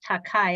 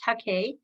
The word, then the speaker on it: Takei: american authors george takei often mispronounced as takai i guess but it's takea kimmy cunningham grant and